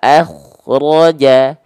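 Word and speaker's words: أخرج: Nah, sekarang kho sukunnya di sini, kho-nya dalam kondisi sukun, maka dia dibacanya wa akhraja, wa akhraja. Kalau kho-nya nggak dikasih nafas, nanti jadi munculnya adalah jadi goin sukun, wa akhraja. Jadi kho dan ghoin itu beda dari segi nafas saja.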